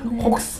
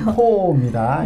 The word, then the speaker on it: Caux: 저는 이게 어떻게 발음 하는데, 혹스 네. 뭐 이렇게 했는데, 네, 코입니다.